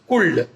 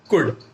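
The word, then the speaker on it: could: कई बार हम प्रोनाउंसिएशन में गलती करते हैं, हम एल को जो कि साइलेंट है उसे भी पढ़ देते हैं, रीड कर लेते हैं, जैसे कि कुल्ड, शुल्ड, वुल्ड। बहुत सारे बच्चों की ये प्रॉब्लम्स होती हैं, तो आप उसे ठीक करें, वहां पर एल साइलेंट है उसे पढ़ना नहीं है, शुड, वुड, कुड ऐसे पढ़ना है।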